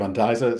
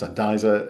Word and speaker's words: Andisa: I'm the Andy of Andisa. So you were yeah, earlier on, you were asking me how to pronounce Andisa. It's the And is Andy, the Isa is Isabel, my wife.